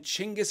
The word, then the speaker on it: Genghis: having a great time second Genghis is the westernized version of his name and chingas is closer to how it will be pronounced in Mongolian so we're sticking with